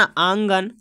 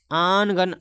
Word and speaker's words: आंगन: बोलते हैं ना, आंगन, आनगन, आनगन बोल सकते हो आप लोग इसको, आनगन, मगर आनगन नहीं पढ़ के नून को साइलेंट रख रहा है, आगन है ना, आगन बोलते हैं, तो आंगन बोल सकते